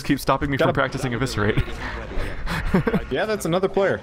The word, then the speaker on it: Eviscerate: Yeah, I'm supposed to go practice Eviscerate. Which I mispronounced as Eviscrate for a very long time.